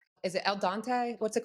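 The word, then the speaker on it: al dente: Is it El Dante? What's it called? Alante.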